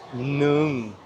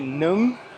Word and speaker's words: nướng: properly because it's pronounced nướng. Because it's pronounced nướng. You have to smile. Apparently, Adri found this out. And if you say nướng, it means horny.